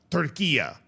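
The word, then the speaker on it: Turquía: Turquia, as they will be called during the course of the World Cup, right? So that's the local pronunciation there.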